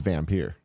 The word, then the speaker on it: Vampyr: about this oh saying the official pronunciation of Dampier I've heard this is vampyre yeah as that's how the devs pronounce it in their videos sure they're also foreign